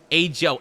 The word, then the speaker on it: ajo: Ajo. Ajo. Okay, okay. It's not like pronounce the J like an H, like in Spanish.